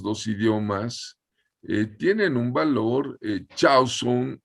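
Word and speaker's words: חזון: Chauson, la palabra me decía Lauro, el doctor Lauro Ayala, se pronuncia caxon. Aunque se escriba chatson, se produce caxon.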